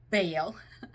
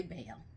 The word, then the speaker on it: Baal: Some people pronounce it differently. I say Baal.